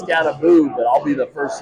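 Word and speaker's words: Skattebo: But does Cam pronounce his last name Scatabo? I think it's almost Scataboo. Scattaboo? Yeah. I kind of thought that. It's Scataboo, but I'll be the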